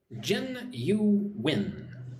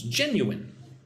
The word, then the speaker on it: genuine: Gen-u-win. Four syll- or sorry, three syllables. Genuine.